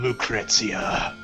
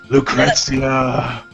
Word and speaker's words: Lucrezia: And, he's pining after a woman who's trapped in a crystal by the name of Lucrezia. Lucrezia! The only time I've ever heard that name pronounced that way.